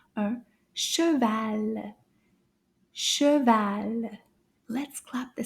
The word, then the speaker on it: cheval: In French, it's called un Cheval. Cheval. Let's clap the syllables together. Combien de syllabes? Cheval. Cheval. Deux.